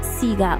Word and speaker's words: Sega: The Andrew's Sega name is pronounced Sega.